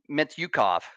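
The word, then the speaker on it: Mintyukov: Their forwards, guys like Zegras, guys like Terry, and even guys like Mityukov.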